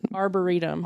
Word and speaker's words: arboretum: How do you say it? Arboretum. Arboretum. Mm-hmm. Like burrito. But arbor.